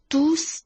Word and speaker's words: tous: s 是要发音的 Ils portaient tous des masques。